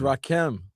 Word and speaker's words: Rakim: 954 says, Dan is saying Rakim. I'm saying, is it Rakim or Rakim? It's Rakim. I kept on telling you, Rakim.